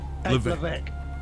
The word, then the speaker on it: Levesque: Levesque.